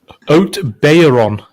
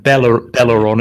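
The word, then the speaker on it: Haut-Beyleron: I think it's Oat Bayron. So you don't pronounce the L. Yeah, so it's not Belleron, it's Bayron. But if somebody in France, Callum's down there.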